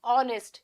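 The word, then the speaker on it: honest: अ का साउंड आ रहा है आपका यहां पे। तो इसलिए ऑनेस्ट हो रहा है यहां पे। कैसे आप कर रहे हो इसको? ऑनेस्ट।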